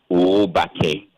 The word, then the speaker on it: Obake: So my concern had to do initially with the pronunciation. So I sent you a voice note to draw attention to the fact that it's Obake.